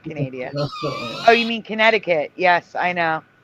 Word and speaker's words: Connecticut: Oh, you mean Connecticut? Yes, I know. The CUIT, like like circuit.